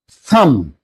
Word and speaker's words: thumb: Thumb not thumb. Lamb not lamb. Tomb not tomb. Climb not climb. In all these words, MB's alphabetical structure comes. But B is silent.